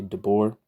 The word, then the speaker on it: Debord: Like you don't say the D at the end of Debord, you just say Debord.